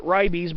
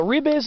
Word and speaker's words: Ribes: current and this is rebase nevada r-i-b-e-s n-e-v-a-d-e-n-s-e a lot of people probably pronounce it ribbies but i keep it a little closer to the original latin so rebus nevidense so it's a member of